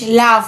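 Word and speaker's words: laugh: ए यू जी एच लाफ लाफ माने हंसना इसमें क्या एफ का सा एफ का शब्द दिया जाता है लेकिन जी एच लिखा जाता है और दोनों ही साइलेंट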